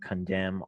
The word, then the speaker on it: condemn: Here's an example of a unique exercise, silent N, condemn, autumn.